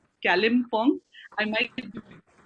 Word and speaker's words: Kalimpong: I'm very finicky about the names, and it's Kalimpong. I might be pronouncing it like a little weirdly.